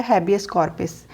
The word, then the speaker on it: habeas corpus: तो रिट्स के जो नेम है वो लैटिन लैंग्वेज में है, इसीलिए इनकी जो प्रोनाउंसिएशन है वो इंग्लिश से थोड़ी डिफरेंट रहेगी। तो फर्स्ट जो रिट है वो है हैबियस कॉर्पस।